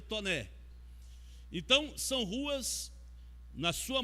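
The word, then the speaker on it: Taunay: A gente fala Taunai, mas a pronúncia correta seria Toné.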